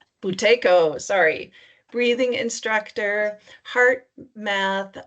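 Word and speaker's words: Buteyko: She is a qualified mindfulnessbased stress reduction teacher, a certified bhutaki bhaco. Am I saying it right? Mindy boutaco. Boutco, sorry.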